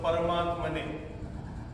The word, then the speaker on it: परमात्मने: करताना एवढं लक्षात ठेवायचं परमात्मने प मध्ये पण अकार जोडलेला आहे तो सोडायचा नाही परमात्मने म्हणलं तर इथं र अर्धा झाला आणि अकार सुटला तर हे उच्चारण अशुद्ध झालं म्हणजे आत्तापर्यंत आपण जे